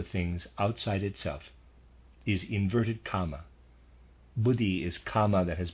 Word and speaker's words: Kama: correctly or at least not the word Karma it's the word Kama k m a just read for clarification